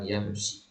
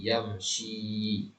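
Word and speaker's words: يمشي: bacakan terlebih dahulu perhatikan yamsi perhatikan Panjang pendeknya bukan yamsi ya tapi yamsi yajri yas'adu yanzilu yajlisu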